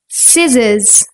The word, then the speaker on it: scissors: Like the letter C in muscle, scent, scissors. When we put C and H together, it sounds like ch.